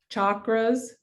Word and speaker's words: chakra: and out of pronunciations the sanskrit pronunciation is more like chakra so it's a u sound instead of an a sound for the chakras anyway